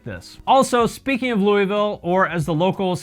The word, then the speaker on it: Louisville: a big festival like this also speaking of louisville or as the locals say it like louisville it holds a little bit of a special